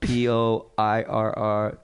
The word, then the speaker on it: Poirier: Doug Poirier. It's New Orleans. You know how to say it. So Poirr. Doug Poirier from New Orleans, Louisiana.